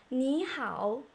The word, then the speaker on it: 你好: 你好, N and H are initials. E and Ao are finals. And both syllables are third tone. 你好 means hello in Chinese.